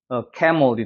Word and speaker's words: camel: 이거는 강세가 여기 있으니까 에 발음이 나서 camel이 되는 거죠. 머리 아니야? camel. 약간 물 사운드처럼 죽어버려요.